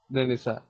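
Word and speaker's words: Renaissance: रेनेसा, इसमें पता है रेनेसांस में ये जो लास्ट के दो वर्ड हैं ये साइलेंट रहते हैं, ये साइलेंट रहते हैं, उसको रेनेसा प्रोनाउंस करते हैं।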